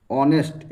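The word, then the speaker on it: honest: पर ही इज ऑनेस्ट ऑनेस्ट एच है यहां पर लेकिन ओ का उच्चारण हो रहा है तो क्या लगता है एन लगता है वोवेल साउंड का उच्चारण हो तो एन हो जाएगा यहां पर करेक्ट चलिए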